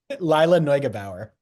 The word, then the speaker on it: Lila Neugebauer: can you pronounce her name again? Lila Neugebauer.